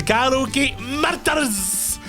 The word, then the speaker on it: Gallowgate Murders: And I think you can only say the Gallowgate Murders properly if you're actually Scottish. The Gallowgate Murders. You've got to say it like, you know, like there's been a murder. There's been a murder. It's like you've got to roll the R.